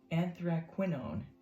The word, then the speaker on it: anthraquinone: And now I looked up the pronunciation on this guy, and it's actually pronounced anthraquinone blue.